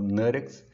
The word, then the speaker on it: NuttX: o termo em inglês a pronúncia em inglês no caso falando next Porque assim fica mais